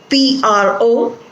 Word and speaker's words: prophecy: This is a verb and it is to be pronounced as prophesy. And the other word is P-R-O-P-H-E-C-Y.